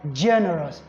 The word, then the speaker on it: generous: we get that so since it ends with o u s then the primary stress has to be on the third syllable and that is why you have generous G you know on the line generous because the degree of loudness has to be here generous then for words